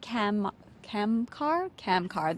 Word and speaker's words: Kamkar: Kamkar.